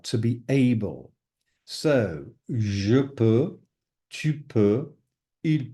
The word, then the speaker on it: peux: You've got the X, the T, je peux, tu peux, il peut. Again, the X, and the T are not pronounced at all. It's as though they're non-existent.